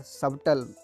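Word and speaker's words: subtle: और सबटल जो में T साइलेंट है, और SUIT में गाइस ये सूट नहीं है।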